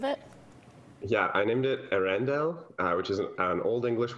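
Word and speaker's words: Earendel: Pronounce it for me. What's the name of it? Yeah, I named it Arendelle, which is an old English word that means the morning star.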